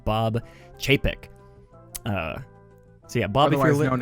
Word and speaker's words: Chapek: I think I finally learned how to pronounce his last name, Bob Chapek.